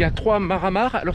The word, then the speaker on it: Mare a Mare: Tout d'abord, ce qu'il faut dire, c'est qu'il y a trois maramar. Alors, ça s'écrit maré à maré, mais ça se prononce maramar.